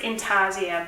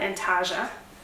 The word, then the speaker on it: intarsia: one's an intarsia project I think it's pronounced in tarzia but to be honest I want to call it antaga but I think it is actually pronounced in tarzia but then I have seen other people call it in Taja as well so I don't think it really matters whatever you call it so with this